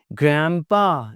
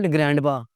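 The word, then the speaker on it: grandpa: ग्रैंपा, इट्स नॉट ग्रैंडपा, ग्रैंपा। ग्रैंडमा नहीं, ग्रैंडमा।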